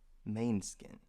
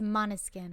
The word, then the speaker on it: Måneskin: You thought it was mane skin. No, I said At least I'm saying it right. I said it's Måneskin.